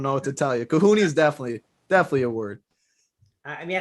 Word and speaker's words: cojones: I mean, I said some kahoonies.